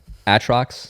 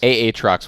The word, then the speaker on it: Aatrox: pronounce champs differently. I was about to say. I'm trying to be LS here. Nasus, Atrox, Aatrox was the word.